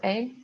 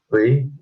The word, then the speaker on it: 의: Not A, it's not pronounced A. 의.